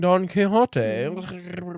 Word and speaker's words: Don Quixote: I am reading Don Quixote. You gotta say it like that.